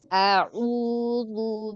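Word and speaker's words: أعوذ: Sambil senyum ucapkan tidak tidak dinaikkan hamzahnya. Oh, iya, Satu harokat saja. A'udzu billahi minasyaitonir rajim.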